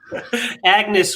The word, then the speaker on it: Agnes: Agnes with a silent G.